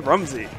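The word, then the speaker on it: Remzii: We we see his name is spelled R E M Z II, but if you listen to it, it's always Rumzy. Oh my. So, for anybody commentating his mask, cuz we know you're going to get top at Smash Con. Make sure you say it right.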